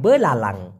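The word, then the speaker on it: belalang: কে এইজন্য বলা হয় বলা লালাং ব লা লাং না বুঝলে অবশ্যই বলবেন উচ্চারণটা হবে বলা লাং এই বলাং মানে হচ্ছে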